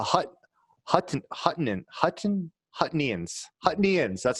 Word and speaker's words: Huttonians: neptunists outnumbered the hutt hutton hutton hutton hutnians huttonians that's how you pronounce it by like 10 to 1.